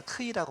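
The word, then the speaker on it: Χ: 크리스토스, 하도 오랜만에 헬라어를 썼다 보니까 크리스토스에서 첫자 크이, 이를 갖다 크이라고 발음하거든요. 크이. X자 같지만 X가 아니라 크이입니다. 크이.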